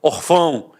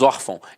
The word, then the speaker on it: órfão: de nasalização até porque se fosse um acento gráfico eu não falaria órfão eu falaria orfão e não é o caso nós falamos órfão então a sílaba tônica